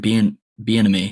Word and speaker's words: Bieniemy: They have Eric Bieniemy.